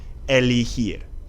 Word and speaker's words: elegir: and we know that if a G is followed by an E or an I, it's going to take that H sound. So that means that this verb is pronounced elegir.